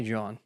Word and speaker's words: Jean: Just say John.